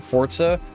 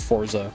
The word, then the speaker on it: Forza: add me for saying Forza you're objectively wrong if you think it's pronounced Forza sorry it's Italian that's Forza uh but anyway uh